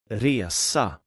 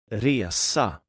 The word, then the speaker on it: resa: The short pronunciation is like the E in bed and the long pronunciation is more like the E in year.